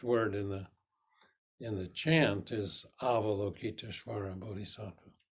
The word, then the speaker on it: Avalokiteshvara: in the chant is Avalokiteshvara Bodhisattva. So the first syllable is ah. So when we chant, it's ah, vola, ki, to, each.